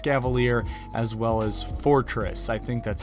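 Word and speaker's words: Forretress: Cavalier as well as Fortress I think that's how you pronounce it spelled kind of weird is not spelled like Fortress but it is I think pronounced Fortress this team is very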